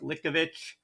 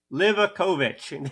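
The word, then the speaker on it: Livaković: So, nothing really to to add here other than uh Dominic Likovich, Livic Lovich, Livakovich. There we go. We got it. Livakovich for those who always correct my pronunciation. There I got on the final attempt.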